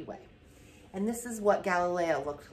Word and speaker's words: Galileo: Now, when you see this, these brackets, that's how to pronounce his name, Galileo, created a telescope that he used to observe the night sky.